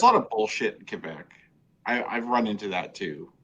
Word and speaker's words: Quebec: It's Quebec, not Quebec. It's actually Quebec.